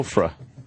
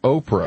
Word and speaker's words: Oprah: Now, that's a funny pronunciation of Oprah, is what you're Yes, saying. yes. Okay, now I got you. Ofra. People used to actually call her Ofra.